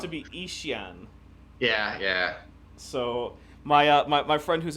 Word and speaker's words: Yixian: to be Ishian.